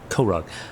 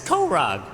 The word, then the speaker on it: Korog: So there are no other clerics of Koreg, how does I pronounce that name? Korog? Korog. That's in character. Oh, okay. It's Korog.